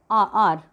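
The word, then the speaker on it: hour: Then ए silent H, अब जहाँ पे एच साइलेंट होता है, जैसे आर starting with H बट एच is silent hair, तो हम यहाँ पे इसको एन आर बोलेंगे। एन ऑनर, एन आर्ली बस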